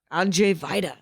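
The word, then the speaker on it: Andrzej Wajda: w-a-j-d-a that's correct that is and it's pronounced Andre whitea is that how you pronounce it I'm Jay Vida there we go yeah little polish uh little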